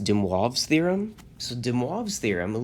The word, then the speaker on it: de Moivre: it looks like it de moivre's this is pronounced demwave's theorem so de moivre's theorem literally says if